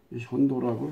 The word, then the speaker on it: 현도: 그 자리에다가 낭랑진돈 임둔 현토라고도 하는데, 토는 좀 문제가 있으면 도라고 읽어야 됩니다. 토는 이제 약재를 말할 때는 이제 풀, 약초, 그때는 토라고 하죠. 현도라고 해야 됩니다.